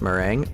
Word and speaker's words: meringue: It's pronounced meringue, oh, and 2, it's made from mainly egg whites and sugar.